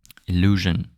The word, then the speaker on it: illusion: And when there's an S between two vowels, in French it's pronounced like a Z, not like a J. You know. Example: in English you say vision. You know, we say vision. Illusion, illusion. Confusion, confusion. Invasion, invasion. Z, the Z, not the J.